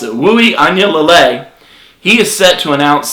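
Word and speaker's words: Uiagalelei: Look, next up, five-star quarterback DJ, and listen to the way I pronounce it, Wui Anyalele.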